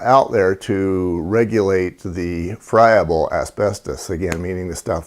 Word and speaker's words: friable: ought to cover is a term called friable or friable. I've heard it pronounced both ways. The proper way is friable.